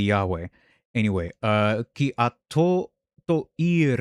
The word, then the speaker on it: Yahweh: Um, uh, but it was probably pronounced. I'm Jewish ethnically. I'm not kidding. I am ethnically Jewish, but like not observant. It was Yahweh. It was probably pronounced like Yahweh or something. Jehovah is something else that people suggest, but it probably wasn't Jehovah. It was probably Yahweh.